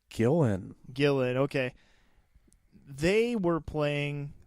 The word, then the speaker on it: Gillan: Kevin Hart, and Karen is it Gillan or Gillian? I keep hearing it pronounced as Gillan.